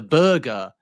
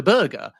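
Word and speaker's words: Berge: Burger and then when he was asked in a subsequent interview why have you given your name in two different ways he said I just don't care people can call me what they like.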